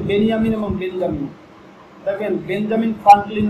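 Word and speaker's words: בנימין: আর তারা হলো এই নবী হযরত ইয়াকুব আলাইহিস সালামের দ্বিতীয় স্ত্রীর সন্তান হলো ইউসুফ এবং বেনিয়ামিন। এই জন্য ইসরায়েলের প্রধানমন্ত্রীর নাম কিন্তু বেঞ্জামিন না, তার নাম হলো বেনিয়ামিন নেতানিয়াহু।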